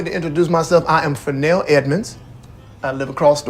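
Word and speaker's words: Fresnel: Fennell. It's spelled just like it sounds. Yeah, F''RESNEL.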